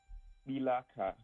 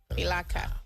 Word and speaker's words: Kpilaakaa: And is that Kpilaakaa? Is that how it's pronounced? Kpilaakaa, yeah. Kpilaakaa, good to know.